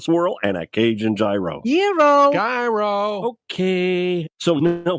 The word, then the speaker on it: gyro: in line at Papa Gyros I order the gyro Supreme suddenly the lady behind me chimes in it's pronounced Euro then the fellow behind her says it's a gyro I turn my back